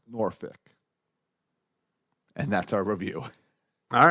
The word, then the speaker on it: Norfolk: okay five stars subject Norfolk what he has to say is pronounced noric and that's our review